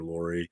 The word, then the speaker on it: Lorre: Is that how you say it, Lorre? Do you know what I'm talking about? Person. He was in Peter Lorre, yeah.